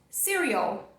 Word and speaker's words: cereal: É mais essa influência do português. Você querer colocar o som de U aqui, você querer colocar a sílaba tônica aqui, né? São coisas que podem te influenciar e te levar para uma pronúncia equivocada. Cereal. Então, o I maiúsculo no IPA vai representar o som E de cereal.